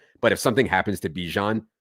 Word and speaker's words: Bijan: and place Algeier for Bijan if there's the injury. I love that you switched your pronunciation of of Bijan's name. Well done. I feel like it's it's like the mustard, right?